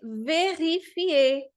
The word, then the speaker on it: vérifier: eu já estou vendo ER também na posição final, que também vai ter o som aí de você, tá bom? Então, verifier o ER. Ai, prof, mas o R não é uma consoante muda, eu já sei que não é. Então, é verdade. O R, na posição final, não é uma consoante muda, exceto quando ele vem antecedido pela vogal E.